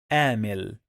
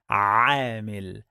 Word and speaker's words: عامل: For example, the word عامل, some people, they pronounce it like عامل. The correct pronunciation is عامل.